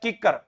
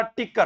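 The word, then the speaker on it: कीकर: जैसे मैं कहूं हमारे एक पौधा होता है किक्कर, और मैं इसको बोलता था टिक्कर।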